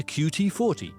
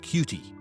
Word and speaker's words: QT40: It reads, please report any suspicious caveman activity to QT40, not pronounced cutie.